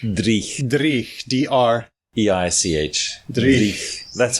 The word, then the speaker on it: dreich: Which is dreich. Breich? Dreich. Dreich. D-R-E-I-C-H. Dreich. That's how I spell it anyway.